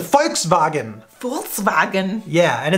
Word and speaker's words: Volkswagen: that's a foul thing it's not a walks wagon some Volkswagen it's a folks bargain Volkswagen yeah and it's